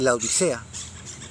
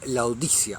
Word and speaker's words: Laodicea: Así que bueno, vamos a meternos ahora en la epístola de la Odisea. La Odisea es otra cosa. La ciudad de la antigüedad era Laodicea, así se pronunciaba.